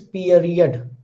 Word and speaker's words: period: And if you pronounce it hurriedly, you will say period, period, but it is period.